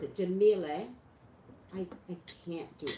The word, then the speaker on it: Jemele: In any case, Jemele, how do you pronounce it? Jemele.